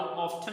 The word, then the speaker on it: often: सो हाउ ऑफन भी पढ़ सकते हैं और हाउ ऑफ्टन भी पढ़ सकते हैं।